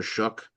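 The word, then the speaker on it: Shough: And New Orleans, I mean with Tyler Shook, I want to, you know, just say that's how you pronounce the name.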